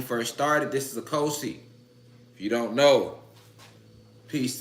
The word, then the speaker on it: Ochosi: Ochosi or Okosi, however you want to pronunciate it. I like to say Okosi, okay?